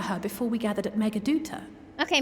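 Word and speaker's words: Meghaduta: before we gathered at Megaduta. Okay, Megaduta, there we go. See? We just have to count for a voiced cutscene to see how things are pronounced. Megaduta, okay, I'll remember that.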